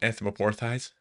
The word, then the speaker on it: anthropomorphize: I don't know how to Anthomorph anthropomorphize. How do you say it? Anthomorphize. Anthropomorphize. I was pronouncing it correctly.